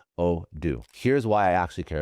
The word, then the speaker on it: Odoo: It is Odoo. Odoo.